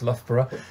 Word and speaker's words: Loughborough: and international relations at loughborough university that's the other thing people aren't sure how to pronounce lothbra here in the uk and yeah i did